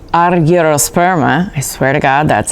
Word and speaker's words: argyrosperma: species: Peppo, Maxima, Mixta, which is now called Argyrosperma, I swear to God that's how you say it, and Moscata, which has an SCH like in school, or bruschetta.